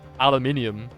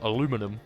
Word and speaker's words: aluminium: Also, that's why um aluminium became aluminum because it was just shortened basically and um the scientific world stuck with it. So, that's the one that is worldwidely is recognized worldwide as the pronunciation even though to me I shall say aluminium because that's how it's spelled.